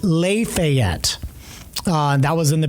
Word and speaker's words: Lafayette: Um there was a a town that was spelled exactly like Lafayette in Lafayette, Indiana was spelled, but it was pronounced Le Fet.